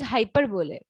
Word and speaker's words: hyperbole: another one is hyperbole actual pronunciation of this is hyperbole hyperbole means exaggeration when